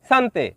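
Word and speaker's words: cantik: শব্দটি লেখার ক্ষেত্রে লিখতে হয় চান্তিক, তবে এর সঠিক উচ্চারণ হবে শান্তে।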